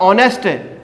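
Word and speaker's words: honest: अब ऑनेस्ट, एन ऑनेस्ट, इसमें क्या रहता है स्टूडेंट, अच साइलेंट रहता है, ठीक हो गया।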